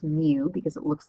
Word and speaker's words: mu: is the Latin letter M and it's literally pronounced mu because it looks like an m and a